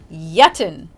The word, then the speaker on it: yitten: so use it wisely next up is yeten that's spelled y-i-t-t-e-n okay it sounds similar to the past participle of eat that's eaten now it sounds similar